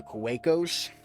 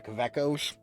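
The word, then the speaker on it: Kaweco: I have on the Kawakos. Or the Kavekos. It's German. I assume the W is supposed to be pronounced as V's.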